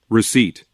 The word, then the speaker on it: receipt: 이거 따라할 때도 이 P가 발음이 안 됩니다. 정확하게 따라하십시오. Receipt. receipt. receipt가 아니에요. receipt. 영수증.